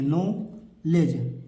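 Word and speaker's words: knowledge: नहीं पढ़ना होता है तो यहां फ नॉलेज में तीन चीजें नहीं पढ़नी है एक के को नहीं पढ़ना है एक डी को नहीं पढ़ना है ई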